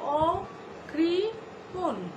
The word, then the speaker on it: অকৃপণ: তো আমরা এভাবে উচ্চারণ করব অকৃপণ, অকৃপণে যদিও মূর্ধন্য ন রয়েছে, আমরা এখানে দন্ত ন উচ্চারণ করব এবং নিচে অবশ্যই হসন্ত দিতে ভুলব না।